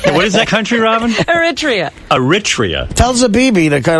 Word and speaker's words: Eritrea: How do you pronounce that country, Robin? Eritrea.